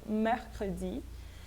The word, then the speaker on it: mercredi: não pronuncio esse R como no mercredi, que eu tenho que pronunciar esse R, né, ele não precisa ser tão projetado assim, o R ele é mais sutil, mas ele ainda assim ele é pronunciado, eu falo mercredi.